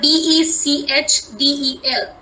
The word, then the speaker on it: Bechdel: called, sorry for the pronunciation, but let me spell it. It's called BECHDEL, Bechdel test.